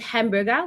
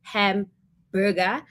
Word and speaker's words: hamburger: And it's the same with hamburger. We tend to say hamburger, but it should be uh hamburger because it's from the word uh it's it's German word.